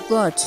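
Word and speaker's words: Berch: erlang in germany and locals nickname it as birch b-e-r-c-h which is an east uh franconian pronunciation of german word burke which is the meaning mountain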